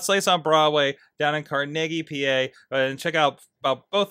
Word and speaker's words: Carnegie: Although I pronounce it Carnegie, but that's different. Well, that's the New York way to do it.